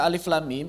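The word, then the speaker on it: الم: semisalnya dalam huruf-huruf muqatah maka cara membacanya adalah dengan menyebutkan nama hurufnya bukan membunyikan suaranya maka di sini ada tiga huruf yang pertama Alif bunyikan nama hurufnya Alif begitu kemudian lam kemudian m seperti itu sama seperti membaca singkatan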